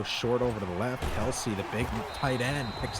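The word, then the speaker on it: Kelce: the offseason apparently travis kelsey informed i believe it was the espn or sports illustrated that everybody has been pronouncing his name wrong since he came into the league it's actually travis kels really yes a little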